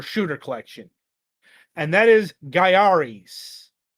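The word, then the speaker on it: Gaiares: And that is Garis, not Gary's Garis. It's pronounced with Gia.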